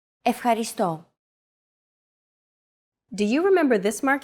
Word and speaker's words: Ευχαριστώ: Ευχαριστώ. Your turn. Ευχαριστώ. Ευχαριστώ. Do you remember this mark here? We talked about it in lesson 2. It's the accent mark, and it indicates that this syllable is stressed.